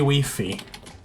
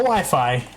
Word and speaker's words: Wi-Fi: many times I have heard someone ask about the free wey pronouncing it free wey now Wi-Fi wey cannot tell you how